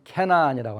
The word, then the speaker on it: 가나안: 이 레반트에서 그 다음에 핵심이 되는 나라가, 또는 핵심이 되는 지역이 옛날에는 가나안, 가나안의 발음은 캐나안이라고 하는데요, 가나안에 살던 사람들을 몰아내고 들어간 히브리족이 세운 이스라엘이라고 하는 나라가 있습니다.